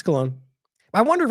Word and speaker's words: Cologne: Like Bologna, it's differently pronounced by different people. Let's see, right here. Cologne. Yeah, it's Cologne.